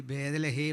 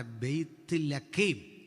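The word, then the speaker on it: Bethlehem: നമ്മൾ ഈ ബേദലഹേം എന്നൊക്കെ പറയും, വാസ്തവത്തിൽ ഉച്ചാരണം തെറ്റ ബെയ്ത്ത് ലഖേം ഇതാണ് പറയണ്ടേ. അവനത് വഴങ്ങാത്തതുകൊണ്ട് അവൻ എഴുതി വെച്ചു ബേദലഹേം. നമ്മൾ പറഞ്ഞത് എങ്ങനെ? ബേദലഹേം. ബദേലല്ല ശരി, ബെയ്ത്ത് എൽ, അതാ ശരി പ്രയോഗം.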